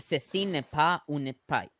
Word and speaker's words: Ceci n'est pas une pipe: I think it's pronounced Ceci n'est pas une pipe.